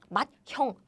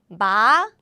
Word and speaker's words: 맏형: So this becomes the aspirated version. 짠. So it's like 맏형, 맏형, 맏형.